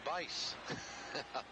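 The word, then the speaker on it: Buice: He put Al Nipper, Eichhorn, and Dwayne Bice.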